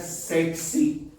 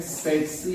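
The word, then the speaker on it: tsetse: कौन सी कौन सी पहला टी साइलेंट है दूसरा टी साइलेंट नहीं है मिला के पढ़ाऊंगा सर इसका नाम होता है सेक्सी इसको कहते हैं सेक्सी एक फ्लाइंग है अफ्रीका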